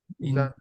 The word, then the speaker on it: Giang: But when you pronounce Zan, that's the first word. TR. Yeah, my first name and is my last name. That's pronounced as Zan. Okay. Yeah, Giang. Yeah. It means river. Yeah. Zan.